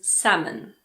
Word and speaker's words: salmon: Another one is salmon. Salmon.